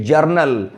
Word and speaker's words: journal: कई बार लोग बोलते समय एक वर्ड है जनरल और एक वर्ड है जर्नल। दोनों की स्पेलिंग, दोनों की मीनिंग बहुत डिफर करती है। JOURNAL इसको पढ़ेंगे जर्नल, और जर्नल का मतलब